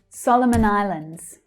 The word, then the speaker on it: Solomon Islands: Solomon Islands. Solomon Islands. So the stress there is on the first syllable. Solomon. You can see how the other two syllables in Solomon reduce to the schwa.